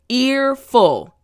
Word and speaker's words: earful: That's right, front teeth, bottom lip, earful.